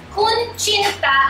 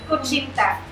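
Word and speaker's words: kutsinta: Kunchinta ang pagka-pronounce namin sa kunchinta.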